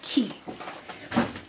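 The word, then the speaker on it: Quay: key Australia qay but it's pronounced key so I've got so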